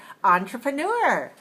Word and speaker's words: entrepreneur: entrepreneur all right and we're not gonna say n we're gonna say on because it's a little a little closer to the french sound they say oh but in english we're going to say on just like on the table all right entrepreneur all